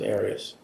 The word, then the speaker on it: Arias: we're talking here um your name has been pronounced so most of this trial areas is there another way of pronouncing it if you always pronounce it areas I've heard it pronounced about seven different ways I say Aries as does the rest of my family well let's back up